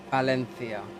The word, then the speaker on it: Valencia: It's actually pronounced Valencia. You got a place called Palencia right near it, because the V is pronounced like ba.